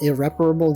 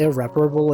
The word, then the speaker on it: irreparable: they even doing nowadays isn't it weird that irreparable is is pronounced like that it's not even irreparable it's irreparable it's not even repairable cuz repairable has an i in it like uh between the A and the r unrepairable is unrepairable the